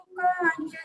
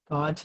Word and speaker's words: काच: यथा महत्त्वं नैवं तु काच सकले किरणाकुलेपि। कांच नहीं है, काच है। काच कांच नहीं है, काच है। ठीक है, अर्थ भले ही कांच निकलेगा, लेकिन उच्चारण में काच है।